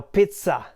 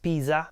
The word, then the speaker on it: pizza: the word pizza now Pizza all the world knows what pizza is but it's not pronounced Pisa as I've heard by someone it's Pizza there are two letter z in the middle and so it's not